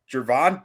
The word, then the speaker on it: Gervon: I like this pick jervon Dexter it's it's uh pronounced like a j ah see surprisingly um Javon Dexter senior he just